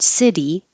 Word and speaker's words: city: In the word city, the T is between two voiced sounds, but it's in the unstressed syllable, so it changes to a D.